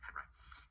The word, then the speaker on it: Henri: And for years I used to say his name Robert Henri because that's the French way to say it, but apparently he said it Henry. So Robert Henry, who, if you are